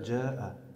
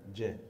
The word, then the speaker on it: جاء: انتبه فقط إلى نطق أو إخراج حرف الجيم. إخراج حرف الجيم، طيب. نعم، قد نطقت أفواجا جيدا، أفواجا، لكن افعل مثل ما فعلت عند قوله إذا جاء. جاء جاء ليس جاء، إذا جاء.